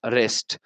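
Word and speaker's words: wrist: अ वच ऑन हिज रेस्ट रेस्ट का मतलब है यहां पर जो डब्लू है यह साइलेंट है और रेस्ट का मतलब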